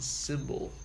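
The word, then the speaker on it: Cymbal: I am also on symbol a symbol app that's spelled like CY MB al the symbol you play as an instrument symbol FM or just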